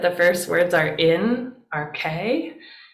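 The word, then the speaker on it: ἀρχῇ: So if we see that the first words are in, RK, that's how you pronounce this second word here, RK.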